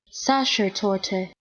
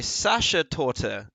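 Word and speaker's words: Sachertorte: it's gonna tell you youtube's gonna tell me sasha torto what oh slammed both apparently sasha torta is the way to do that one um anyway the question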